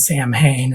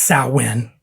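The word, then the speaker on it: Samhain: would put on stuff like the Misfits and Sam Hayne and he has the conversation with Kirk or James or Dave or whoever you know is in the band at the time um that uh it's pronounced sain that's the real pronunciation of it and I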